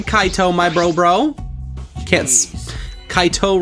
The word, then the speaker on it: Kaito: my bro bro kids Kaito rhymes with my bro we're gonna spend the